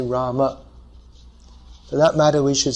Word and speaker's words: Rama: So to say the name properly according to Sanskrit pronunciation, we should say Rama.